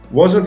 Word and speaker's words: wasn't: now weren't and wasn't people usually say weren't as one syllable weren't wasn't has two syllables wasn't okay now listen